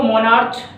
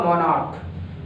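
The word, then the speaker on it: monarch: अगर आपने पढ़ा इसको मोनार्च तो आप ES लगा दोगे, बट इसका सही प्रोनाउंसिएशन क्या होगा, मोनार्क। तो मोनार्क तो it means sound chair is pronounced as का, तो भाई क्या के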